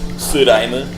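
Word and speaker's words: スライム: Su is just the first syllable of slime in Japanese. Suraime.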